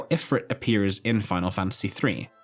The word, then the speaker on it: Ifrit: I know it's meant to be pronounced Ifrit, by the way, but I just can't do it. I've been saying Ifrit like this since I was 4 years old,